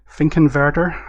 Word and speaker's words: Finkenwerder: Not the main Hamburg airport, but Finkenwerder, I believe it's pronounced.